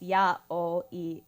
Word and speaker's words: yaoi: basically like that so eight can be pronounced yah in Japanese zero can be pronounced o and one can be pronounced e so it's yeah all e day very straightforward honestly